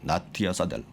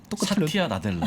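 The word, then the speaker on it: Satya Nadella: 나티아 사델. 아니요. 사티아 나델라.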